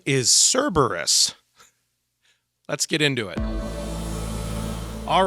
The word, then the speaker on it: Cerberus: of Hades and I kept saying the word serbus the name of the dog is Cerberus and I felt compelled uh mainly because three